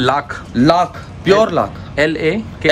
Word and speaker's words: लाख: इसको बोलते हैं लाख, लाख प्योर लाख, LACK लाख, लाख। इसका प्रोनाउंसिएशन अलग है लेकिन बोला जाता है लाख लाख, लाख के कड़े, लाख के बाला।